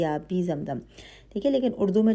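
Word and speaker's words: آبِ زمزم: مجہول نہیں پڑھنا ہے۔ جیسے اردو کا تلفظ ہوتا ہے آب زمزم، تو بے والی جو آواز ہے ویسے بے کے نیچے زیر ہوگی آبی زمزم، ٹھیک ہے۔ لیکن اردو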